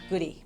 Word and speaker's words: Gaudette: I am married to Gerard Gaudette, and he is from Prince Edward Island, and in Prince Edward Island they say Gerard Goody because that's how they pronounce it there.